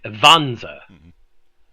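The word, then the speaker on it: Wanzer: to my bad German it's vanza because W's are pronounced as V in German for anyone who doesn't understand that yeah but riona riona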